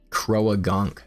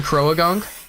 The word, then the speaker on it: Croagunk: The A is silent in Croagunk.